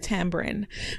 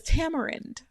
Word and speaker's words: tamarind: also Tam tambrin so because I'm Jamaican I pronounce it tambourin but you may pronounce it as Tamarind but for me it's tambourin um let's run over